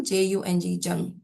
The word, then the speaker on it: Jung: And Jung is spelled by G. C-A-R-L, Carl, J-U-N-G, Jung, Carl Jung.